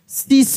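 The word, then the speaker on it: seesaw: Double E एस ए डब्ल्यू सी कैसे पढ़ेंगे सीस ये सब वर्ड देख रहे हैं काफी इंपॉर्टेंट है।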